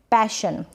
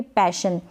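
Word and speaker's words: passion: आगे तो आप लिख देंगे पैशन, प बन गया पै, और ये जो ए है ना, पेशन, ऐसे नहीं पढ़ेंगे इसको, पेशन नहीं, गलत उच्चारण होगा, पैशन।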